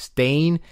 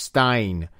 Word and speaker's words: Stein: Now I'm going to say, knowing Japanese class, I don't think his name is pronounced Stain. I think his name is pronounced Stein. It's Stein, yes, should be Stein.